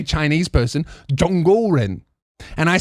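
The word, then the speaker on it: 中国人: Perth, and she said, your pronunciation was very good and your use of tones was very accurate. Zhongguoren. And apparently tones is the most difficult part.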